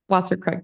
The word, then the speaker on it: Wasserkrug: How do you pronounce it? Wasserkrug, thank you.